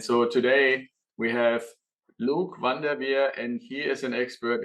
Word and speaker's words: Van Der Veer: Van Der Veer, is that about proper to pronounce?